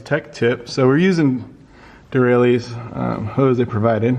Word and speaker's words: Derale: So we're using Derale's hose they provided. How do you pronounce it again?